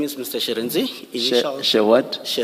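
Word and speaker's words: Shirintzi: Sharenzi. Initial what? Sharenzi.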